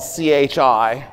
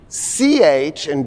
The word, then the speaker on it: chi: So in Greek, the letter X, it's spelled, we usually spell C-H-I, most Americans call it chi, is the letter chi, and it's the sound that you put in the word drachma, right?